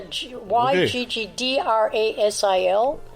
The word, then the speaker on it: Yggdrasil: Then he tied a noose to the world-free tree, and I'm not going to pronounce this. It's YGG... Yggdrasil. Yeah, YGGDRASIL.